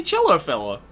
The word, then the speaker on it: Cello Fella: take it my dude wait people pronounce that wrong it's clearly cello fella God everyone else has